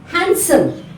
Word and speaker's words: handsome: letter n similarly D letter D is silent in these words how deep is Venice Venice take handkerchief handkerchief handsome handsome now let's see